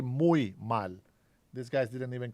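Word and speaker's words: muy mal: We don't say much. We say mui mal. These guys didn't even correct his uh bad uh Spanish. Muchal. Mucho mal.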